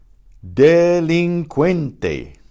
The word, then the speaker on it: delincuente: Notice, in English, we use a QU to get the que sound, but in Spanish, you can't do that because QUE is pronounced que, because the U is silent. So they use a CUE.